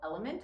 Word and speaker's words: LMNT: big fan of a brand called element it's spelled lmnt uh I love them